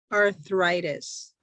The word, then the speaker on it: arthritis: by condition like Arthritis. arthritis. Yeah. Yeah. In English, we say it like an I. So arthritis.